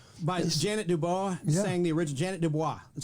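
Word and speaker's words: Ja'net DuBois: up yeah Jefferson's Janet Dubois sang the original Janet Dubois that's how you pronounce her name actually yeah and she was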